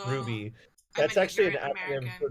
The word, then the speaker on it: RWBY: Is that how you pronounce that? I've done RWBY. Yeah. Yeah, it's Ruby.